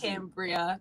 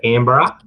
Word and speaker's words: Canberra: I've never heard of Cambria, or I don't know if I pronounced it right, but I've never heard of that. Canberra. Canberra. Okay.